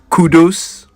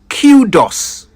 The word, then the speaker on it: kudos: today's word KU D oos how do you pronounce that did you say Kudos don't worry many people say it that way the correct pronunciation however is cudos cudos it Commendation or plaudits Kudos comes from